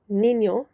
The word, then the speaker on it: niño: written in English, and you've got ñ, which is an N with a little wave above it, which changes the way the letter is pronounced. So for example, the word niño in Spanish, N-I, ñ,